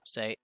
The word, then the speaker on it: せ: せ This is se or se. You pronounce it as se, like in the word set. せ Let's practice writing it.